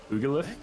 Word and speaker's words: pugilist: Natural pugilist? Huh? Gain +1 pugilist maybe. Gain a +1 damage to unarmed attack rolls. Oh yeah, and damage. pugilist. Pugilist, okay. Soft G.